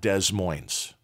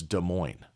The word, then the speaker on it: Des Moines: m o i NES it is not Des Moines it is De moin it's French uh background originally and uh the s's